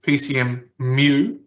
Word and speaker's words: PCMU: 0 being PCMU, or more correctly, PCMU. It's spelled MU, it's pronounced MU, MU.